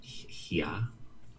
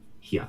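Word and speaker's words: হ্যাঁ: Pronounced haya. Pronounced what? Hia. Hia. One quick syllable. Hia.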